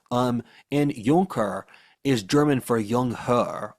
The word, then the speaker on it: Junker: Germany for centuries afterwards they were called junkers which is spelled junker in English which is really not a pleasant name in our language. Um, and yonker is German for yung hur or young lord.